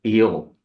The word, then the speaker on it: Io: Her name was Io, as we pronounce that in Greek, I you know that uh the the Greek gods were as we are today.